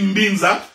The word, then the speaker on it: Binza: Nous avons également l'Assemblée de Saints bon, généralement on dit Mbinza, mais ça s'écrit Binza, à Ozone.